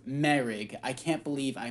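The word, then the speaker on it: Moehrig: hit for trayvon morig mo rig is actually it's not mo rig um i keep i can't believe i mispronounced that that entire reboot it's pronounced merig i can't believe i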